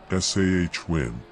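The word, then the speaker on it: Samhain: Celtic Festival of sa a Gaelic word pronounced sah win a pagan religious celebration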